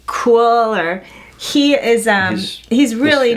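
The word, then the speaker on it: Kuiil: guy and I think it's names kind of pronounced like cooler he is a he's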